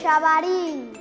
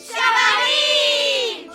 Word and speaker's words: xabarín: Xabarín. Xabarín. Show. Show. A derradeira, xouba. Xouba. Moi ben. Vedes, se sabedes dicir todas estas palabras en inglés a diario, tamén saberedes pronunciar ben o xe do galego.